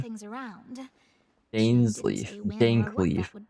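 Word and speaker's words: Dainsleif: But I suspect she means that there is still a way to turn Dansleaf. things around. Dainsleaf. Dankleaf. Correct pronunciation.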